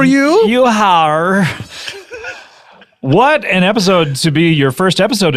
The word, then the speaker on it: epicode: So it's spelled EPICODE, but it's a soft C.